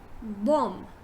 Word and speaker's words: bomb: word is this so here we see b is silent right so instead of saying bomb just say bomb bomb bomb right now moving on this